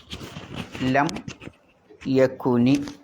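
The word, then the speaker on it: لم يكن: മുതഹറീ കുതുബുൻമ ശ്രദ്ധിക്കാനുള്ള തജ്വീദ് ഒന്ന് ലം യക്കുനി എന്ന് തന്നെ പറയണം എന്നാണ് ലം യക്കുനി ലം യക്കുനില്ലദീന അവിടെ ശരിക്ക് ഉണ്ടായിരുന്നത് യക്കുൻ എന്നാണ് ഉള്ളത് യാ പിന്നെ ഇങ്ങനെ ശരിക്കും വേണ്ടത് യാ കു ഇവിടെ പിന്നെ സുക്കൂനാണ് പിന്നെ എങ്ങനെ ഈ കസർ അസലിൽ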